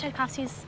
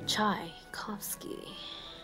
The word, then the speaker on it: Tchaikovsky: Tchaikovsky. How do you spell that? Chai, as in chai latte.